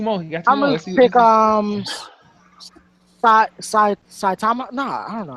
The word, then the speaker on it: Saitama: I'm gonna pick Saitama. No, I don't know how to pronounce that. Yeah, it's Saitama. Saitama.